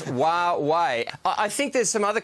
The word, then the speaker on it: Huawei: Most Australians don't even know how to pronounce it. Yeah, you got it right. Huawei or whatever, but it's Huawei.